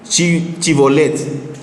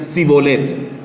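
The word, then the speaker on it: Shibolet: Si respondían le añadían, "Pues di chibolet." Pero le decían civolet porque no podían pronunciar correctamente.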